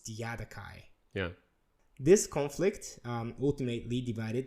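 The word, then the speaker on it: Diadochi: Yeah, in Japanese we say like a diadokoi. I think it's closer to a Greek pronunciation. Okay. But in English it's Diadokai.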